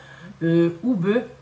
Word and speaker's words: Oube: venu lui en visiteur oube donc ube je pense que ça se prononce Oub euh et j'étais trop contente